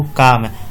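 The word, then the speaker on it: calm: इसे पढ़ते हैं बाबू काम। काम एल होता है साइलेंट, तो काम का हिंदी होता है शांत।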